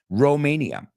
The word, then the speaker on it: Romania: Romania. Today in now you say, interesting, in Spanish you say Rumania, like Rumano con U, no? We say it like Romano, like Rome, like Roma, Romania.